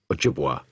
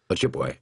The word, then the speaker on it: Ojibwe: And you can say this by going Ojibwa, Ojibwe, Ojibwe, Ojibwa. It's exactly the same thing.